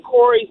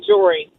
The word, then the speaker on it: Jory: I just say um instead of saying Cory say Jory are you gon to